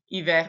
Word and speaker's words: hiver: Because obviously there's some exceptions, like en hiver, hiver, we say that R.